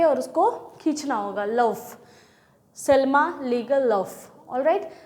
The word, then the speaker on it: Selma Lagerlöf: बस आप इसके प्रोनाउंसिएशन को याद रखो, सेल्मा लेगरलौफ. और इनका प्रोनाउंसिएशन इसलिए ऐसा है क्योंकि एक स्वीडिश राइटर थी. ये स्वीडन के रहने वाली थी.